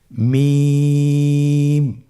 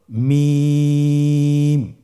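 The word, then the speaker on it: ميم: মিম হরফটি উচ্চারণের ক্ষেত্রে অবশ্যই বারিক হবে, পাতলা হবে এবং তিন আলিফ টেনে উচ্চারণ করতে হবে। আমার সাথে আরেকবার চেষ্টা করুন। মিম। আবার বলুন মিম।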